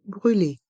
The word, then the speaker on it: brûlée: une glace une crème brûlée une crème brûlée le M reste en suspens crème brûler le E de brûler est muet une crème brûlée une